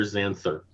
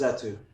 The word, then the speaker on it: Zatu: Dr. Xanther. No, it's Zatu.